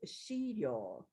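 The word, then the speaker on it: 資料: So, these words, 3 words, and they can be read as shiryo.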